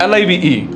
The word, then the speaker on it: live: The word live, live, with the I sound in sit means to reside.